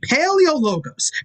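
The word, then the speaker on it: Paleologos: a simple pronunciation so say it with me paleo logos pale like your last name pales in comparison to mine eo as in equal opportunity of catching these words logos like when you your hand like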